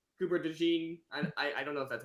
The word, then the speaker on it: DeJean: Like Cooper DeJean, I don't know if that's how you pronounce No, his it last is. name. It is. It is? It's the John.